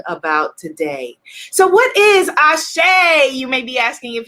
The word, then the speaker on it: Asé: it means yes i'm on the right path ashay let's affirm it type into the comments ashay a s e is the easiest way to